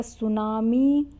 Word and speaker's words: tsunami: देखिए यहाँ दे रखा है सुनामी, जापानी शब्द है सुनामी, टी से लिखा जाता है, टी सुनामी ऐसे लिखा जाता है,